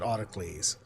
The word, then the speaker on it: Autolycus: Or Autolycus. I thought on the show they always pronounced it Autocles.